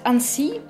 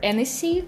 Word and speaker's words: Annecy: Not everyone knows, but Annecy, or Annecy, like how my American fellows pronounce it, it's also the lake and the city where this festival is held.